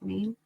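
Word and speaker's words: Mien: Born in 1984 in a refugee camp in Thailand to a Maine family, an ethnic, I think that's how you say it, Maine? M-I-E-N.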